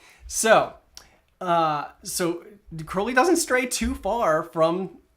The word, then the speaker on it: Crowley: evolution from crowley okay notice how i said crowley because it rhymes with holy oh jamie you can